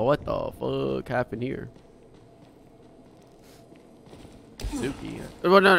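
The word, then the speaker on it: Tsuki: Suki. Well, no, it's spelled T-S-U-K-I. So very close, very close. It's the T-S-U Su. Super fucking old school Japanese pronunciation kind of thingy.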